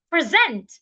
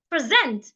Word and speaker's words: present: e to see now the second rule says if the word has two syllables and it's a verb or a preposition then I should stress the second syllable for example present present I need to present